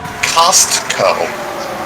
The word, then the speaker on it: Costco: do you pronounce it Costco there's a t in there it's Costco you're talking about Supreme